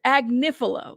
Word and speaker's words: Agnifilo: way like it's weird agnifilo yes a AG nifo all right I'm tattoo it to myself AG nif that's how you say it no way we